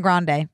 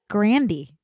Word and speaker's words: Grande: your panties off Ariana Grande no it's not grande grand no Grandy you are you Ser